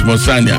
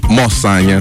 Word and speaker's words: Mosanya: I don't know how I pronounce that, if I pronounce that right, but I believe it's pronounced as Mosanya. Am I correct? Mosanya.